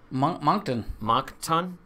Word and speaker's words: Moncton: Moncton. Moncton. Is it T? Yeah. Is it T-O-N. It sounds like a T-A-U-N. No, Moncton.